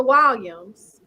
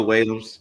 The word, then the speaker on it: Whalum: So I know you know about the Williams or the Will. Did I pronounce it right?